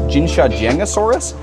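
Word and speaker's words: Jinshajiangosaurus: one at least on Wikipedia it said it's pronounced jinsha josus which actually kind of frustrates me because there's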